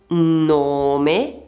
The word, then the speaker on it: nome: Invece nella parola nome nome abbiamo la o chiusa.